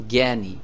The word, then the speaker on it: জ্ঞানী: গ আছে আছে না এই গর মত উচ্চারণ হবে জ্ঞানী জ্ঞানী আবার এই অক্ষরটি